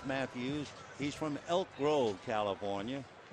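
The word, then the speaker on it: Mattheus: t h e but it's still pronounced Matthews he's from Elk Grove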